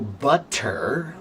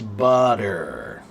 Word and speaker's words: butter: So butter becomes butter.